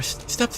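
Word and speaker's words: steppes: Or steps are pronounced steps. S-T-E-P-P-E-S.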